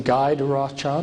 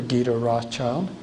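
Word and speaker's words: Guy de Rothschild: harriman and this is you can pronounce his name guide rothschild or gita rothschild if you want a more french pronunciation gita i believe that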